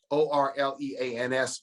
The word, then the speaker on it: Orleans: interesting thing is that when you say the word o-r-l-e-a-n-s without new it is pronounced orleans so the name of